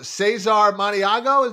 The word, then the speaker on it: Cesar Maniago: The aforementioned last week on the show, Cesar Maniago.